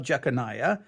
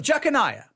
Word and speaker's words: Jeconiah: that although Joseph was in the lineage of jeconiah that because Joseph was not Jesus physical father